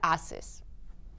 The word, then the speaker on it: ACES: eduardo s de samuel en español se pronuncia aces pero en inglés es 6 es ahora por favor